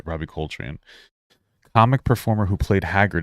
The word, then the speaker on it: Coltrane: I'm going to look up for a pronunciation so I can do him justice. Robbie Coltrane. Oh, I was right. Robbie Coltrane.